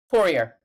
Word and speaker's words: Poirier: Poirier, yes.